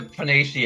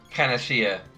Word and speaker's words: panacea: now i see you i will pronounce the phonacy in my head but apparently it's a panacea i mean maybe both pronunciations are correct but i think it